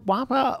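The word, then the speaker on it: WAAPA: best yeah have you been into jazz before wapa or is wapa is that how you pronounce it am i getting okay yeah good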